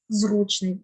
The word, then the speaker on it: зручний: на передостанній склад і останнє слово було зручний як би нам не було дивно вимовляти це слово але наголос має бути на першому складі зручний Зручний диван зручний крісло